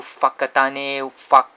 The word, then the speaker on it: Whakatane: a Maori language, and when you see the WH in front, it's pronounced as F. So Wagaruru, Whakatane, Whangare here, so it's a F.